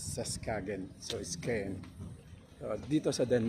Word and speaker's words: Skagen: Ito pala ang bigkas sa Skagen.